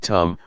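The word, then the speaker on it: ธรรม: we see this now the dhamma in Thai pronounced in the same way as the word tum which means to do refers to Nature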